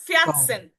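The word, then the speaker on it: vierzehn: যখন দেখবেন কোনো ওয়ার্ডের ভিতরে এর এবং সেট একসাথে বসে, তখন তার উচ্চারণটা হবে তয়ের মতো। কিসের মতো? তয়ের মতো। এটার উচ্চারণটা হবে ফিয়াটসেন, ফিয়াটসেন।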